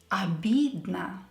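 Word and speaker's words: обидно: feel hurt offensed insulted here e is stressed and both all letters are unstressed so we have to pronounce them as a albed so don't pronounce them as o o be no is incorrect i was very upset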